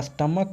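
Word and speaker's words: stomach: तो स्टमक का कुछ होता है CH का उच्चारण क आ रहा है, यानी इसका प्लूरल बनाने के लिए केवल एस लगेगा।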